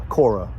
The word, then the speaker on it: Qawra: the Coffee Circus in Aura, which is spelled Qawra, like Cora. My sat-nav calls it Cora.